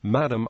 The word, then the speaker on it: Madame: Egypt and The levand Madam pronounced with a long second a as in the French is used generally as